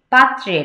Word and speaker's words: পাত্রের: দেশ, দেশ কাল, পাত্রের, পাত্রের, এই যে র ফলাটা আছে, পাত্রে, পাত্রের র ফলাটা উচ্চারণ করতে হবে।